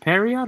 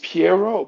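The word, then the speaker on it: Pierrot: It's Piero, but the thing is, because it's French, a lot of people It's don't French. pronounce it, so they say Perio. And They say every time Perry. I hear it, I'm like, my You're ears, they're like, bruh, bleeding. It's Piero. Say it right.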